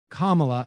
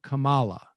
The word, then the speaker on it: Kamala: of the fact that she pronounces her name kamala as opposed to kamala now maybe it's because i'm from massachusetts like my first uh instinct would be like kamala because i always hit